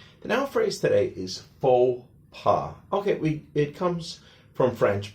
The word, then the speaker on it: faux pas: Remember, in French, the last letter is often silent. So the X is silent in the first word, and the S is silent in the second word.